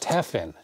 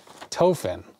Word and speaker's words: Tefen: the bay area tofin sounds like stefan without the s oh so stefan so teffin okay it's pronounced tephin i've been pronouncing it tofin i'm sorry about that